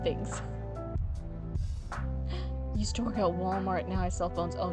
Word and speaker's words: Walmart: Used to work at Walmart, now I sell phones.